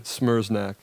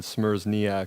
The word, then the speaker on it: Smereczniak: I was saying Smereczniak, and he's like, no, it's 2 syllables, not 3.